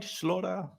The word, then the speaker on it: Stian Slora: Stian Slora. Did I say it right? Slora?